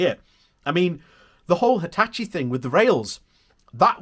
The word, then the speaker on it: Hitachi: this region that holds up the rail manufacturers hitchens plans for the region as as an example hitachi sorry hitachi sorry i've got to pronounce that right hitachi bought a site in the north east with